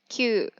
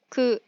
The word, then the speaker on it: 九: Nó có thể được đọc là "kyū", "ku" hoặc "kokono." Chữ cuối cùng là "十."